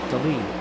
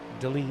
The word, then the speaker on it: DeLeon: And Harry DeLeon says DeLeon is pronounced Deleen. Okay, thank you. Deleen.